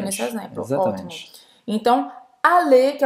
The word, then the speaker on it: aller: que é o verbo aller. Aller em francês, que significa ir em português. Aller. Aller. Então, eu não vou pronunciar esse R.